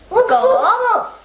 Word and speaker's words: 狗: How you say dog is pronounced go, and which is meaning of dog.